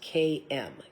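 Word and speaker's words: Camio: It's spelt like cameo, but pronounced KM.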